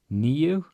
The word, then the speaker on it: níu: So átta, átta, níu. I with an accent is like 2 E's in a row in English. Níu.